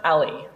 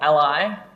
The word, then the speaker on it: a11y: Firstly, it's pronounced ah-lee, not ah-lie.